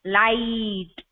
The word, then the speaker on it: light: लाइट. So when you spell this word लाइट, लाइट, this GH again remain silent.